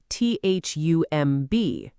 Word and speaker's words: thumb: And thumb, t h u m b, pronounced thumb.